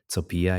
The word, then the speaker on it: Copija: Um my second name is pronounced topia in my um mother tongue which is Polish.